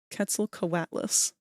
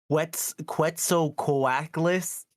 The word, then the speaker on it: Quetzalcoatlus: I have to Google how to pronounce it again. Quetzalcoatlus. Oh, what? Yeah, that's the name of that dinosaur. Quetzalcoatlus? Quetzalcoatlus. Quetzalcoatlus.